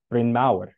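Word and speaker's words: Bryn Mawr: Quaker Roland Ellis Ellis originally named the estate Brin maau which is Welsh for big hill by the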